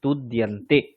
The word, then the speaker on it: তুদ্যন্তে: আপনি যখন দটা উচ্চারণ করছেন, আপনার জিভটা মূর্ধন্যে চলে যাচ্ছে। জিভটা দাঁতের সঙ্গে স্পর্শ করে উচ্চারণ করুন।